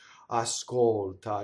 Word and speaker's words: ascolta: Notice the L is so high in the palate. It's not down like an English L, like an American English, especially, right? Ascolta. No, ascolta. Right? It's beautiful, right?